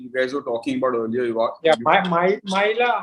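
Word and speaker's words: Mæhle: And the fullback, the Atlanta fullback you guys were talking about earlier, Maila, how do you pronounce it? Mahler.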